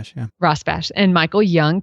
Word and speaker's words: Rosbash: I think that's how you pronounce it. You can correct me. Rosbash. Yeah. Rosbash.